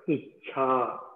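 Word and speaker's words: इच्छा: Icha. So Icha. There is this Mahaprana here, right?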